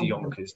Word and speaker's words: Jonkers: I think it's I think Yeah, they pronounce the J's as Y's. Yonkers. Yeah, he says Yonkers.